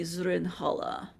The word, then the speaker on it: Zrinhala: Others, I suppose the closest pronunciation would be Zrinhala.